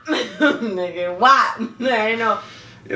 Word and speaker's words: WAP: So the acronym is pronounced. WAP. Nigga, WAP. I know. It ain't whap.